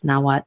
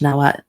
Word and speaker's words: Nahuatl: but they do speak their own language, Nahuatl, which is similar to Aztec language, Nahuatl. Pronounced differently because it's spelled differently, but it's similar. Nahuatl, because they have the TL at the end, but this one is spelled Nawat, Nahuatl.